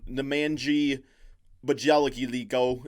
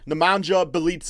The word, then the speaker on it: Nemanja Bjelica: You know what's rough for the Kings right now when NEMANJA BJELICA is your top story. NEMANJA BEAL'S, I think is actually how it's pronounced.